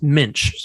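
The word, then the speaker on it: Moench: role in doug uh pretty sure it's pronounced mensch so doug lynch's terror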